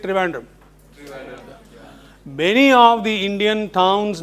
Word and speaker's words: Trivandrum: How is Thiruvananthapuram pronounced in English? Trivandrum. Because an Englishman could not articulate it so correctly, Thiruvananthapuram, like we Indians do, he simply said Trivandrum.